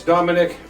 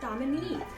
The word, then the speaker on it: Dominique: Oh, kids, everyone likes Dominic. She's a very likable lady. Dominique, Dad. It's pronounced Dominique. Dominic is the maitre d' at Luigi.